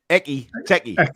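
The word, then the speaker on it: Ekitike: Should be Ikitiki. I love pronouncing his name. It's so funny. Baz, if you just think of it in a Geordie way, Eki Teki.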